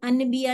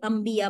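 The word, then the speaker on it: انبیا: का वर्ड है तो हम इसको पढ़े तो अनबिया नहीं बोलेंगे, अंबिया बोलेंगे, नून साइलेंट हो जाएगा उसमें से।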